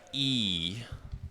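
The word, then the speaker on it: íj: It's pronounced E. It's just two letters. E, like when you hit your, I don't know, feet, you say E, and this is how you pronounce bow in Hungarian.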